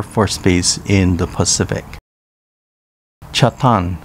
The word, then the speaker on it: Chatan: base in the pacific chatham pronounced chatang in uchnanguchi is where mihama american